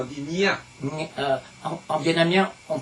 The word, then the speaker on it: Nghia: Et puis, on prononce pas Nguia, on dit Nia. En vietnamien, on prononce Ngia. On prononce pas le G. Voilà, il n'y a pas de G. C'est un peu le nasal. Nia.